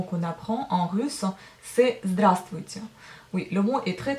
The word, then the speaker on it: здравствуйте: Si vous entendez bien, on prononce bien здравствуйте, c'est-à-dire que j'avale la lettre V. Enfin, j'avale, elle tombe. Mais il faut bien l'écrire dans l'écrit. Donc en fait, la lettre V tombe quand vous dites здравствуйте.